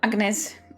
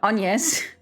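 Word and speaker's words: Agnès: An want to call it Agnes and not Anes. Damn French pronunciation.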